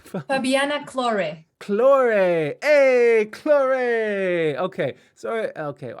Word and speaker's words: Claure: do you say your full name fabiana claude claure hey claray okay so okay i don't know what i said i think i said it's fine don't worry it's this american tongue